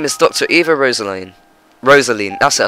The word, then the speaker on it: Rosaline: Rosaline, that's it, I said it right.